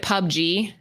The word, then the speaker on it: PUBG: what the other one or is it Pub G is that how you're supposed to pronounce it sure pubg oh Anthony screaming from the other room it's Pub G I still don't know